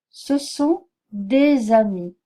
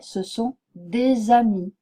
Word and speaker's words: des amis: sont des amis normalement l'article D on ne prononce pas le S mais quand cet article se trouve suivi d'un mot qui commence par une voyelle ou un H je pron je prononcerai ce S et ce S sera sonore je dirais ce sont des amis bien donc voilà c'est